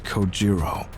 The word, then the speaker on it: Kojiro: Get It Go Jimbo the way he deliberately mispronounced my name really bothers me it bothers me so much that the anger boiling inside me gives me the strength to open my mouth once more it's kojiro sure bro sleep tight